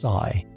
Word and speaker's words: psi: What we call the wave function denoted by the Greek letter psi f pronounced sigh.